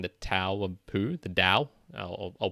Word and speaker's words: Te: 1982 that being the to of poo the da I'll pronounce it correctly the da and the second